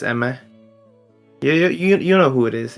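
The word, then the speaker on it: Aimer: You pronounce it Eimer, but it's Eme.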